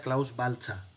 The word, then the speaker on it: Klaus Baltzer: Se pronuncia Klaus Baltzer.